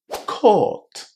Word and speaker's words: court: Court is pronounced with a long O. O. Court. Coat is pronounced with the O sound, just as in the word go.